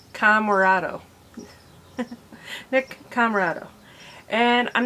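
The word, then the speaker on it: Comoroto: I always want to say Comotoro, but it's not it. It's Camarado.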